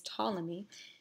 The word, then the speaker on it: Ptolemy: continue those discussing Claudius Ptolemy though I just pronounced his name with as if the P was silent so Claudius Ptolemy a very famous geographer